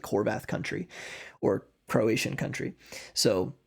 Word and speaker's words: Horvath: My last name is Horvath, and in Hungarian, it's a very common last name. It's pronounced Horvat.